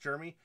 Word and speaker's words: Jisdeax: up and chat here they call him germy pronounced Jeremy I don't know if